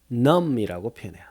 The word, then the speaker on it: numb: 뭐라고 표현하느냐 마비된 거죠 요거는 numb 끝에 b는 묵음이에요 그래서 넘버가 아니라 남편